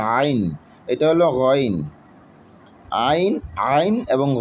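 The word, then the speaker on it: عين: এটা হলো আইন, একটু ভিতর থেকে উচ্চারণ করার চেষ্টা করতে হবে, আইন।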